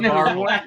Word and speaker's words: Barville: Listen, Greg, I talked to your mom the other day about this, and you had way too many syllables when you said Barville. Yeah, you're right. It's Barville. It is Barville.